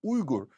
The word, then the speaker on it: Uygur: I mean, how are they supposed to know it's pronounced Uyghur? Besides which, it isn't. We made that up just so people could say it. It's actually Uyghur. I'm not going to try to force Americans to say Uyghur.